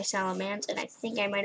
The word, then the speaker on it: Salamence: salamance i don't know it's spelled salamence but i say salamance and i think i